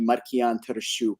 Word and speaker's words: Markian Tarasiuk: so like you know my name can be marquian tarashook is kind of like the the Ukrainian pronunciation of it but I don't I